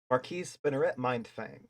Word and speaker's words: Marquise Spinneret Mindfang: I can't pronounce the first one. Help. Oh, Marquise Spinneret Mindfang. All right, awesome. Marquise Spinneret Mindfang.